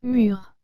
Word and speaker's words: mûr: les mots sûrs et les deux se prononcent mur en fait celui du haut se dit d'un fruit qui est mûr c'est à dire prêts